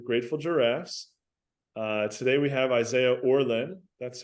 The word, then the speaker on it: Isaiah Orlen: Today we have Isaiah Orlen. That's how you pronounce it, correct?